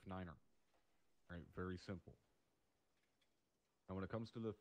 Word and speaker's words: niner: alright so for example to say three five nine phonetically would be three five Niner aren't very simple and